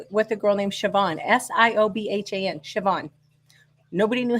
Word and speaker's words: Siobhan: went to school with a girl named Siobhan s-i-o-b-h-a-n Siobhan nobody knew how to pronounce that she had to tell us it